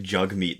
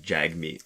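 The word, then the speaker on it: Jagmeet: J meat sing that it's pronounced more like jug meat than Jag meat uh it's not like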